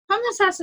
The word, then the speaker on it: Homosassa: It's Homosassa is a very, very small town.